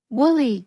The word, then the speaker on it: woolly: Woolly means made of wool, usually sheep's wool. Use the sound. So woolly rhymes with fully.